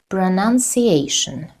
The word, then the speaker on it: pronunciation: And the last one, pronunciation. Pronunciation. Pronunciation. We have 5 syllables. Pronunciation. Pronunciation. Pronunciation. Yes, pronunciation. Ation. The 4th syllable is stressed.